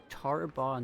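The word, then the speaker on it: Tarbaw: So yeah, he's just like Tarbaugh Nighthill. Mm-hmm. Call me Governor Nighthill. Mm-hmm. Tarbon sounds like how it's spelled. Tarbaugh. Oh, B-A-W.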